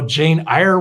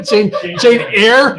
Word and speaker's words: Jane Eyre: really love scripture, or they love, you know, Jane Eyre, whatever, I don't know. Jane Eyre? Jane Eyre?